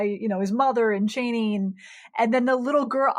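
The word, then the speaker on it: Chani: a they actually use the parrot i think it's the pronunciation that herbert oh he said cheney oh wow cheney and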